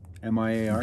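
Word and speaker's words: Grillmair: How would you pronounce that word again or name? It's called Grillmeyer chimneys, Grillmeyer.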